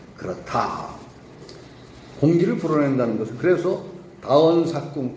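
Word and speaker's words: 多言數窮: 그래서 여기서는 다원 수궁이 아니라 삭궁이라고 읽어야 될 겁니다. 다원 삭궁.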